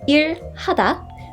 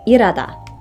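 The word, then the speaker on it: 일하다: Hada irada work irada when said slowly it's pronounced IR Hada but quickly it often merges into irada to take a walk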